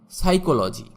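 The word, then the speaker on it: psychology: Silent P, যেমন সাইকোলজি, এখানে পি এর উচ্চারণ হবে না। সাইকোলজি মানে মনোবিজ্ঞান বা মনস্তত্ত্ব।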